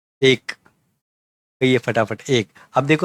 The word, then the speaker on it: एक: ठीक है, उसको मराठी में इस तरीके से लिखते हैं एक, और आपको आसानी हो इसलिए इंग्लिश में लिख के दिया हूँ एक। ऐसा उसका प्रोनाउंसिएशन होना चाहिए।